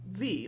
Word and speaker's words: ye: And so, for example, when you see things that say ye old, whatever, shop, you don't really actually pronounce it ye. It's pronounced thee, like T-H-E.